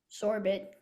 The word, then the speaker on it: sorbet: Sorbet. Can I please have all the information? Okay, the only pronunciation is sorbet.